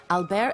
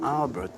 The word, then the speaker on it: Alber: J'ai dit non, Albert. Try to say Albert. And they said spell it. I said it's the same, but just don't pronounce the T.